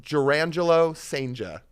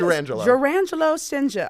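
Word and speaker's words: Jurrangelo Cijntje: It is Jurangelo Senja. Is it Jurangelo for real like this? Jurangelo Senja. Okay, bro. Not D'Angelo. But he pitched both hands in one inning.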